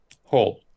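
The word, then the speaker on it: whole: Ah, kids build hole. Hole. That's right. So, no W.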